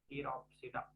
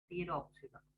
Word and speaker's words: Pteropsida: one is to be Pteropsida. Pteropsida. Here, now I would like to write Pteropsida. So P is silent, no?